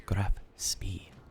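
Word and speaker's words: Graf Spee: So, the Grafspee has, and I said it wrong again, God, it's Grafspee.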